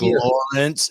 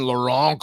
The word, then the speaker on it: Lawrence: Mavstar, Marek Lawrence, and I called him Laurent on the last show because makes me sound kind of evil in French, Laurent. Because I was a dipshit and didn't ask him to pronounce his own name.